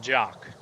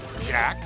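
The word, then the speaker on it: Jacques: Now, let's go beat the snot out of Jock, which I'm guessing is actually misnomer. I believe his name is actually pronounced Jack, like Jack in the Box.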